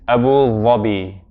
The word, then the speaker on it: Abu Dhabi: Often in English, I mean, we call it, the pronunciation sometimes varies in English. Sometimes we call it Abu Dhabi. Often we hear Abu Dhabi. But even the people who live there, because of the influence of the colloquial Arabic, they might pronounce it a little differently. But the most accurate, the most eloquent pronunciation is Abu Dhabi.